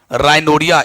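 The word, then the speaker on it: rhinorrhea: राइनोरिया, इसको पढ़ते क्या है? राइनोरिया, ध्यान से देख लीजिएगा, राइनोरिया पढ़ते हैं आप।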